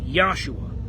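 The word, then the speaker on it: יהושע: in the Hebrew and it's got five letters yod hey wash in I the best I can tell that's pronounced yahshua there might be some Nuance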